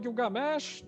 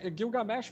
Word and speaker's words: Gilgamesh: Você citou Gilgamesh, né? Eu uso a pronúncia Gilgamesh para o acadiano, tá corretíssimo. Eu chamaria de Gilgamesh, falando como sumério, né? Por causa da diferença de pronúncia, mas isso para nós